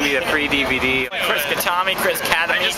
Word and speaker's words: Khatami: I've only pronounced it Khatami. I've only... Other people pronounce it Khatami, and I accept that.